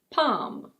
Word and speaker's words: palm: This word is: palm.